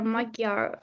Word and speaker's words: Magyar: Yeah, I saw some statistics like Peter Magyar. Do I pronounce Yeah, correctly?